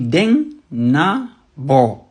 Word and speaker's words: Denabo: Denabo, là, ça veut dire Den-na-bo.